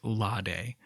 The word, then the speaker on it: Lade: I do know that the correct pronunciation of the island's name is Lade, but there is a small, maybe immature part